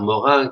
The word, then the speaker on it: Morin: De ahí esta reflexión final de Edgar Morin, que me permitirás pronunciarlo a la francesa. Edgar Morin, que sin duda es para nosotros el intelectual más ligado a nuestra autorreflexión universitaria, ¿no?